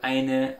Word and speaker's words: ein: So you read in the article and you say, okay, there's ein, eine, and you pronounce it a, and speak it out loud for you.